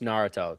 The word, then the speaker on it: Naruto: Start with it's just Naruto. Top left. This one? Yes. Okay. Now. Okay. Now we can hear it. Pause. There are filler episodes which. Naruto.